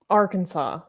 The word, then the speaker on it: Arkansas: that i highlight okay so if you add r instead of kansas it should be our kansas but no for some reason this is kansas and how do you pronounce this as a whole arkansas why why it should